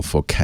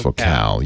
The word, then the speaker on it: Focal: It's from Focal. It's pronounced Focal. You would say it in English, focal, but they're French, so they can't say it the same.